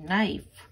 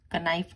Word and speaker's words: knife: KNIFE नाइफ, इसमें K silent है, कनाइफ नहीं बोलना, नाइफ।